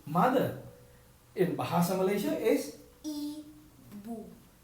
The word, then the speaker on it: ibu: In Bahasa Malaysia is i bu. Ibu. Even though it's I, it's still called i bu. Right. It's I, but then it's like we pronounce it by E.